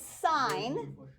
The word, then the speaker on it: sin: think when you say sin Okay so still pronounce it sign even though it's abbreviated s i n okay this one is